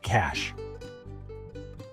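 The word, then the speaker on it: cache: It is pronounced cash. Just like the word for money, the cash is a temporary storage space, like my secret stash of hidden treats.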